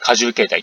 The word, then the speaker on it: 花獣形態: 花の獣と書いて荷重形態と読むんですけ